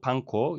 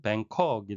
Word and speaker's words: Bangkok: 쌓인 자네 속에 갇힌 태국에서도 방콕 영어식 발음은 뱅콕이 되겠습니다 지진에 의해 무너진 고친